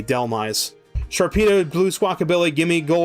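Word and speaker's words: Dhelmise: Am I Delmise? Like Delve and Demise. Delmise. I'm going to drop chat. I'm going to keep Squawkabilly. All right. So, Delmise. D H E L M I S E. Delmise.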